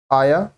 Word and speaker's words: heir: अब देखिए ये जो HEIR है starts with a silent H and a vowel sound आया, so article N is used.